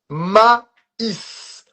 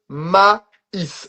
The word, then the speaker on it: maïs: So here you're gonna have two little points on top of the E that makes you pronounce the E. So every time you see those two little points on top of a letter in French, usually it's gonna be on the E. That's gonna make you pronounce that letter no matter where it is in the word.